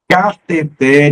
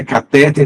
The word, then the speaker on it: cateter: novel é novato Condor cateter e ureter não é cateter nem uret por favor não é